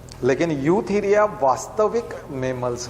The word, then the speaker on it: Eutheria: है ना, ईयू, EUTHERIA, यूथीरिया, ई से शुरू होता है, EU, ई साइलेंट है एक तरह से, यूथीरिया।